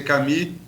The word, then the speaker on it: Camus: No caso, Camus escreve, pronuncia Camus, no seu livro A Peste, que eu acho que exemplifica muito bem o momento que a gente está vivendo aqui agora.